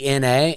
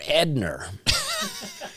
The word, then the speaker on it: Edna: It's like my mom's name's Edna, Edna, and my grandmother used to call her Edner.